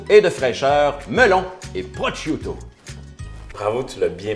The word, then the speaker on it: prosciutto: Donc, une recette pleine de goût et de fraîcheur, melon et prosciutto. Bravo, tu l'as bien prononcé.